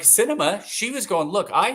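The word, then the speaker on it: Sinema: her name for Arizona cinema cinema no that's not how you say it is it that's her name Cinema yeah like the movies that's how you said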